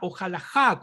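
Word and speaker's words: הלכה: teológicas recordemos que a la halajá como lo pronuncian algunos es la pronunciación medieval pero la caf es muy probablemente que sonará con la fuerza de nuestra letra cab en la época del segundo templo viene de la raíz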